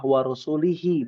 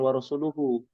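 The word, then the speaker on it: وَرَسُولُهُ: Dia baca sampailah pada ayat ini, ya, didengar oleh Umar bin Khattab bahwa sahabat tersebut membacanya salah, warusulihi bukan warusuluhu. Kan tulisannya warusuluhu ya.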